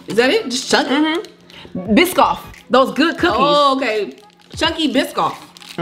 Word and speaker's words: Biscoff: to pronounce it though oh it's biscoff yeah oh i thought it was miss scott i don't know how